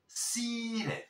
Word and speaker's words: seated: Sí, pero aquí sí vamos a pronunciar la E. ¿Por qué? Porque tenemos la T y es una consonante fuerte. Y además la podemos pronunciar como una R suave porque está entre sonidos vocálicos.